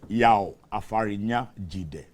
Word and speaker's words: Yao Afarinya Jide: Yao Afarnya Jide. He's a member, Tour Guides Association of Ghana. Did I get it right? Well, not very right. Yao Afarinya Jide.